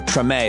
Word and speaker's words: Treme: life was actually fictionalized in the hbo show treme is how you pronounce it i never watched that show but